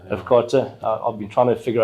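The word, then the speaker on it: AfCFTA: Afkata. Yeah. Afkata. I've been trying to figure out how to pronounce it.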